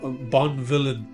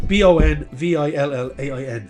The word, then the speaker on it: Bonvillain: It's a fantasy series by Kieran Gillen, Dan Mora, and Tamara Bonvilliers. I always get that name wrong, but then it's Bonvillain.